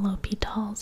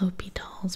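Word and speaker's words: L'Hôpital's: So, you can actually spell L'Hopital's a few ways. Back in the day, I learned it as basically L'Hospital's. It's still pronounced L'Hopital's, but it's basically spelled like L'Hospital, L'Hopital, but you can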